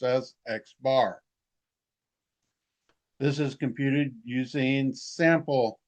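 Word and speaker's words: x̄: There's the sample arithmetic mean and it is given by this little x variable with a bar over it and it's pronounced as xbar.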